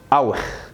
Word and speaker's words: اوخ: الكلمه الاخيره خلي بالك فيها مقطعين، ادي المقطع الاولاني اللي بنطقه ايه او، وده خ، يبقى ايه اوخ اوخ. طب يا امتى تنطق شين؟